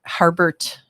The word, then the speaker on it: Harbert: Harbert, Michigan.